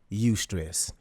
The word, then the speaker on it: eustress: So, the first one is called eustress, and that's spelled e u stress, e u s t r e s s.